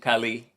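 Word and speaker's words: Callais: We pronounce it Kali in southern Louisiana.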